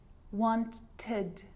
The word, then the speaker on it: wanted: So you can hear the ed sound there. Id, wanted. It's its own syllable.